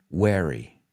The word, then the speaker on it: wary: take a nap okay and the second word is spelled w-a-r-y and how do you pronounce that one wary wary and that one is rethiloso right the